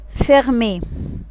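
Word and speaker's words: fermé: فيرمي، فيرمي يعني مقفل، جات في آخر الكلمة كده اتحول معايا النطق للإي، فيرمي.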